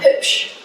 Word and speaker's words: hübsch: Kalau sebuah kata A, I, U, E, O Iya. ada titik 2-nya, Iya. bayangin ada tambahan E. Jadi kalau U pakai titik 2 itu Berarti- ada E-nya.